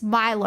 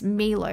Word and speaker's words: Milo: But if somebody tells you it's Australian and it's Milo and he says, no, it's Milo, he's the one that's wrong. It's fine to pronounce, it's obviously fine for the Japanese people to pronounce it like that.